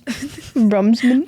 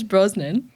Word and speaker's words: Brosnan: Brumsman. Pierce Brosnan.